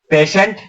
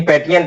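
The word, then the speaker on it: patient: होती है ठीक है पढ़ने में तो पेट अगर सही पढ़ेंगे तो क्या होगा प्रोन करेंगे तो पेट लेकिन पेटेंट नहीं ये पेशेंट ये स्पेलिंग है इसको प्रोसटता है पेशेंट पेशेंट अब ये बताइए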